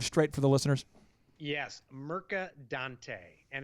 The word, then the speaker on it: Mercadante: It's a Mercadante. Yes. A lot of pressure. M-E-R-C-A, and then Dante, like Dante's Inferno, D-A-N-T-E.